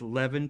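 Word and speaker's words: Levan: lo and behold, I found the name is Levin Polka, Levin, L-E-V-A-N, L-E-V-A-N, Levin Polka. Polka is spelled with 2 Ks, and it's actually Finnish in origin, from the 1800s, a Finnish folk song.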